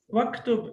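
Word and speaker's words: وَاكْتُبْ: And when we have waw, then what happens? The hamzat al-wasl gets dropped. We don't pronounce it. Waktub, and you write.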